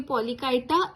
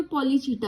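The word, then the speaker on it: Polychaeta: एक होती है ओलिगोकाइटा, एक होती है पॉलीकाइटा, एक हिरुडीनिया। ओलिगोचीटा भी बोलते हैं कुछ लोग इसको, और पॉलीचीटा, प्रोनाउंसिएशन में वैरी।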